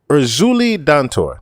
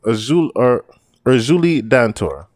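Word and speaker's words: Erzulie Dantor: So Urzuli Dantor, that's her name. Urzuli Dantor.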